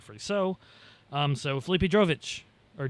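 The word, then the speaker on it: Drugovich: So um so Philippe Drovich or Drovich drop a syllable. Um Filipe Dugovich he uh he steps in uh for FP1.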